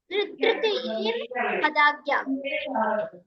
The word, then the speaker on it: तृतीयेर्हदाज्ञा: रा है ना, पहले एक ही बात रा का उच्चारण करना है, फिर हदाज्ञा बोलना है, ठीक है। तृतीयेर्हदाज्ञा, ठीक है।